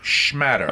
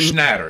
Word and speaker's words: Schnatter: John Schmatter. Okay. The founder of the chairman. Schnatter.